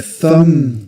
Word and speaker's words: thumb: Thumb the B silent. You don't pronounce it. You don't No, there's no need. Thumb. You only pronounce You only pronounce the m sound at the end.